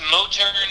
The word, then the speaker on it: Motern: us a little bit about that uh it's mo turner media m-o-t-e-r-n and it's understandable that people don't pronounce it correctly because i just made it